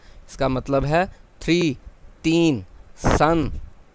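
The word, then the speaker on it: 三: اسے S-A-N لکھا گیا ہے لیکن اس کا تلفظ 'سورج' ہے، اس کا مطلب تین ہے۔ سان، سان، تین، اور یہ وہ اشارہ ہے جہاں ہم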